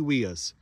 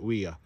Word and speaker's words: weir: they call them leaky weas We R I don't know how we pronounce it in English here in Kentucky with the accent but uh down in Australia in English they pronounce it WEA so this is a